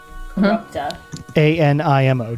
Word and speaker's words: corrupta animo: Can you spell that? Yeah. K-A... nope, apparently not. K-O... Co. R-U-P-T-A... Corrupta. A-N-I-M-O, 2 words.